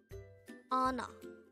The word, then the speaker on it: 언어: hangover word number 214 anna no this is pronounced as a two suitable word the first syllable is on and the second syllable is ah pronounce it with me